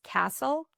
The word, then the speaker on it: Kasl: And this is by Charlotte Davis Castle, which is spelled K A Sl.